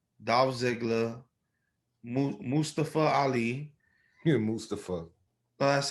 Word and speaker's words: Mustafa: Yeah, Mustafa. That's how he pronounces it.